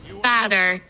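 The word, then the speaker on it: vader: Но просто Вейдер читается не как Вейдер по-голландски. Блин, а как правильно-то, чтобы не опозориться. Сейчас скажу. Ну-ка. Читается вот так вот, ща. Вы услышите? Father. Типа father, на самом деле. Но пишется вадер. В по-голландски читается как ф.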